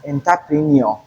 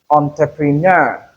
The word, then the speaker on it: entrepreneur: So many people mispronounce this word as entpreneur. No that is wrong. It is entrepreneur. The stress is on the last syllable.